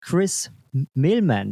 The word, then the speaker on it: Chris Mehlman: He is Chris Milman. Is that a good pronunciation?